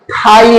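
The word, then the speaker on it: thigh: ऐसे ही देख लीजिए थाई में जीच साइलेंट है क्योंकि जीएच हमारा जो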